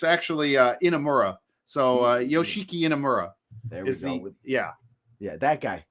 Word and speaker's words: Inamura: I know I I know I have trouble pronouncing it myself and uh it's it's actually uh Amura so yoshiki inamura there yeah yeah that guy because I cannot